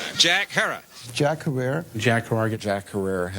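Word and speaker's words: Jack Herer: shot by a cop Jack her have I pronounced it correctly Jack her Hera okay Jack Hera Jack herrer Jack Jack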